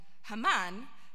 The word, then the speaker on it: Haman: in the wilderness and Hammond the Hebrew pronunciation of Haman one of one of